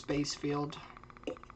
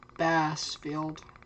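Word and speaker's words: Bassfield: ongoing heading up towards base field bass field I I keep saying base but it's Bass yeah it updates as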